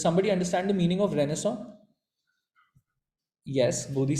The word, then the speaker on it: Renaissance: It's spelled as Renaissance, but it's Renaissance.